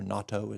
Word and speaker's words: natto: Um, I like natto the best probably or natto is as they pronounce it.